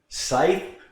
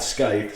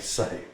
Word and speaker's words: Scythe: Scythe. That's how it's pronounced. Scythe. That's what they tell me. Okay, not Scythe. Scythe. It's not a dagger.